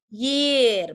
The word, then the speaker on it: year: Ini bacanya bukan jir, tapi dia bacanya adalah year bacanya.